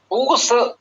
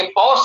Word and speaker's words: पौष: पूष, ये पौष का मास जो है, जिसे ग्राम्य उच्चारण में हम लोग पूष भी कहते आए हैं, यही शीतकाल का चरम लगभग माना जाता है।